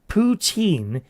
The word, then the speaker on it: poutine: Poutine is one of the most Canadian dishes we can think of and would absolutely love to see you make it.